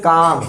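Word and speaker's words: calm: ये लिखा है काल में। काल में नहीं पढ़ते इसको। इसको बोलते हैं काम।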